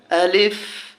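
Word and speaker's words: ألف: আমরা শিখে নিচ্ছি আলিফ এটাকে উচ্চারণ করব আলিফ আলিফ আলিফ বাতাস যেন বের হয় আলিফ আলিফ বাতাস যেন বের হয় খেয়াল করে বলতে হবে বা এরকম বলবো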